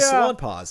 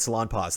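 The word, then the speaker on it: Salonpas: When I first heard that, it was on the radio, and they said salon pause, and then they had to spell it, and I was like, oh, that's not a fun spelling at all.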